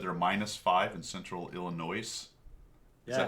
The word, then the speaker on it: Illinois: you say it stickler is it Illinois I believe that's correct if you're from Illinois you love that you love the Illinois no s oh no s in Illinois Illinois illino Illinois Illinois wat